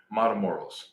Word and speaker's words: Matamoros: Matamoros. That's what it's called. Matamoros. Matamoros. Okay. Is that how you pronounce it?